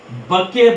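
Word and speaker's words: bouquet: अब flowers flowers के गुच्छे को हम लोग बके बोलते बुके बोलते हैं। बुके को टी साइलेंट होता है या इसे बंडल भी बोला जाता है।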